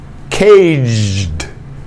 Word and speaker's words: caged: trick tricks tricks caged now this is not the gu this is your sound but you have to imagine your d is in here all right go to the d position k d but don't say the d cage cage caged caged difficult i know but i'm here to